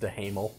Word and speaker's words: Duhamel: There's a moment where the government, Josh Duhamel of Las Vegas from TNT, Pronounced DeHamel.